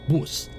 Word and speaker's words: bws: at things like their spelling of bus it's bws and they pronounce it bus let's drive like a